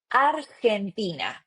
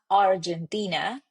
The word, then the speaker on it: Argentina: Argentina. It's not Argentina but Argentina. So basically what we want to focus here it's in the pronunciation of the H the vowels and also pronunciation of the G.